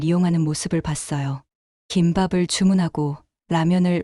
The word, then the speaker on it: 라면: 김밥을 주문하고 라면을 레이멘이 아니라 라면이라고 불러야 한다며 부모님의 발음을 고쳐주기도 했죠.